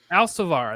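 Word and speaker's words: Alcívar: is one nil uh i'll see vr if that is that how you say it uh al savar there you go jordy alcivar scores what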